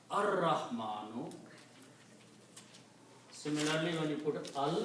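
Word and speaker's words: الرحمن: So al-Rahmanu, because when you combine, one Dhamma goes away, so it becomes al-Rahmanu. Again, this Ra is a Shamsi letter, so you pronounce ar-Rahmanu.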